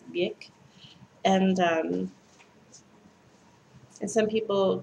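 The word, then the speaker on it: Björk: And a lot of people pronounce her name Bjork, but I just happen to know that it's Bjork.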